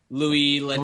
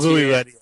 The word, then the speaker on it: Louis Leterrier: I don't know how you pronounce the director's name. He's French, so Louis Leterrier. Louis Leterrier.